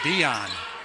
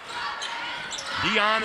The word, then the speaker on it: Dion: make my presence known Nadia told me to pronounced her last name Dion Dion is her name kind of like the singer right again oh coming